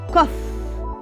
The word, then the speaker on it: cough: It's pronounced cough, okay? Cough. So let's see these sentences.